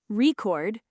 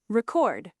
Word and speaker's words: record: First syllable stress, usually noun, second syllable stress, usually verb. Let's lock in today's six stress shift words with clear examples. Word one, record. Noun, record. Verb, record.